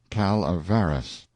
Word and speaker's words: Calaveras: French the notorious Jumping Frog of Calaveras County pronounced Calaveras in compliance with the request of a friend